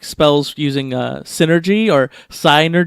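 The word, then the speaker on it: Psynergy: like spells using a synergy or sine or G or however you want to pronounce it I'm gonna say synergy because it's like psy NER GUI so sin ergy like sent like I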